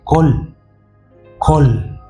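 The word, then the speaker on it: קול: un término hebreo que se traduce o se pronuncia col col y significa voz o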